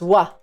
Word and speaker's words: は: Ha is pronounced as wa.